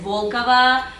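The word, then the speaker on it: Волкова: Aunque en real ustedes siempre ponen mal el acento, porque real es Volkova, Putin, Sharapova.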